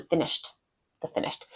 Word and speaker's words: finished: They don't pronounce the end of the word.